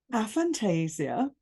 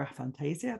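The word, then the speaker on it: aphantasia: helped me with that a Fantasia or a Fantasia depending on how you say it I prefer a Fantasia that's just uh for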